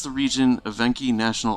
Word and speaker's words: Evenki: I pronounce the region Evenki National Okrug.